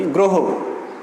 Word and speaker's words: গ্রহ: আচ্ছা, এরপরে আমরা দেখি গ্রহ। গ্রহ উচ্চারণ হবে গ্রহ।